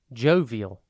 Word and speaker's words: jovial: time today's word is jovil it is pronounced Joe v o and spelled j o v i a l think Joe and then vile v i l Jo